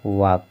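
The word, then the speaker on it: walk: से पहले यल है और यल सभी में साइलेंट है। देखिए वाक यहाँ पर देख लीजिए, टॉक, चौक यहाँ पर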